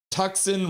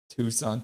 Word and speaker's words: Tucson: It's pronounced Tucson Roadrunners. Tucson.